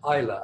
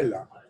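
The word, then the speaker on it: Islay: I think it's pronounced Isla, actually. Isla. In the Scottish. Pronounced Isla.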